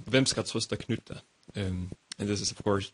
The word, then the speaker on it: Knytt: I pronounce it Knytt Stories because the word Knytt comes from an old Swedish book from the Moomin series that maybe you guys know about.